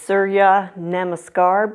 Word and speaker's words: Surya Namaskar: In Sanskrit, it is Surya Namaskar B. I finally pronounced it right.